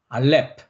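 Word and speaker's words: אלף: 알렙은 묵음이었습니다. 사일런입니다. 두 번째는 정방형이라고 했습니다. 네. 그러니까 요 네모 이미지 라인을 생각하시고서 치시면 됩니다. 하나, 둘, 셋. 알렙, 알렙.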